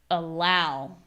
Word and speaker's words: allow: So in this case, when we have a letter A coming at the beginning and that is in an unstressed position, we still pronounce a sound, but that sound is schwa. So it's just like this little Watch my lips. I'm not doing anything crazy with the lips. It's just allow, attend.